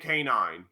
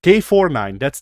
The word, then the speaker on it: K49: Nameless and K9. Who are the same character. Like, no, K49. That's how you're supposed to pronounce his name. I actually had to look this up.